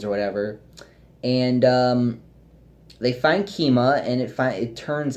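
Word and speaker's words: Keemia: some reason I don't I'm not good at pronouncing her name what is it kima its kima yes that's why I wrote it down and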